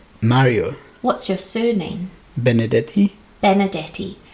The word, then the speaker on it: Benedetti: what's your first name Mario what's your surname Benedetti Benedetti how do you spell it b e n e d e double